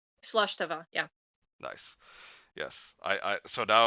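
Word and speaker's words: slàinte mhath: And okay, I think I still remember how to pronounce slash tava. Slush Tava, yeah.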